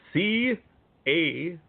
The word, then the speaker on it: Caseres: And let's spell your last name out for anyone who isn't certain on how to spell it. That's CASERES.